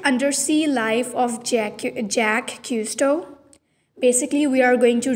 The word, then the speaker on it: Cousteau: yeah custo is yeah so it's jack and custo is the correct pronunciation kusto okay so it's uh jack if cousteau okay jack is custo from june 1910 to june 1917 in 1997.